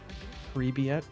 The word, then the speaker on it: привет: Pre-Viet? Where the fuck is a B coming from, boy? I thought that's what you wanted me to no. Focus on my pronunciation. It's V, you dumb fuck.